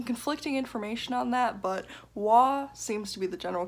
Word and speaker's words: Waugh: It looks like there's some conflicting information on that, but Waugh seems to be the general consensus.